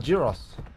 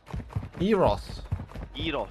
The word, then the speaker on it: gyros: They're called Eros. Eros. Eros. Yeah, Eros. Okay, Eros. I've never heard it pronounced that way, you know? Well, that's how you're supposed to.